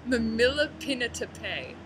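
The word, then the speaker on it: mamihlapinatapai: And the word is, just wait for me to pronounce it crappily, mamila this is so hard. Mamilapinatape.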